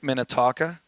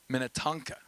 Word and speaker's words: Minnetonka: Lake Minnotonka. Did I say it right? Help. Minnetonka.